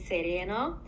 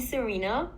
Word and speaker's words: Szerena: So the proper pronunciation of my name is Szerena, but you can call me Szerena.